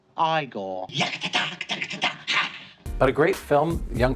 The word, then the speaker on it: Igor: of pike or yes in a spell Igor now it's pronounced I goal yeah a great film